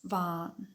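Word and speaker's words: vain: only the reason is in spoken Finnish Vine gets pronounced as van however it is important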